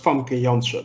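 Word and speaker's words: Famke Janssen: did with that continually okay it's pronounced funky youngster by the way but that's true no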